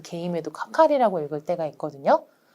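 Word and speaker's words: 係: 그런데 개로 읽는다고 해서 무조건 K라고 읽지 않고 개라고 한국어로 함에도 불구하고 관계할 때 그 개임에도 카카리라고 읽을 때가 있거든요.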